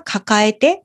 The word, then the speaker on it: 抱える: ているという時にもよく使うんですけどその時は抱えてと読みます。抱えるという同詞ですね。